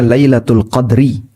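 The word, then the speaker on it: ليلة القدر: Bisa juga kata al-qadar di sini dibaca dengan dalnya disukun. Dibaca dengan al-qadru. Dalnya disukun. Sehingga bacanya Lailatul Qadri.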